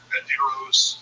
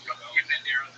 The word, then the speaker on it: Banderas: Let's drop a syllable. Banderos. Banderas is good.